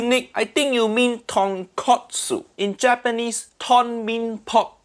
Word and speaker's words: tonkotsu: But katsu mean cutlet. So tonkatsu mean fried piece of pork. That completely different thing. Say it properly. Tonkotsu. Tonkotsu.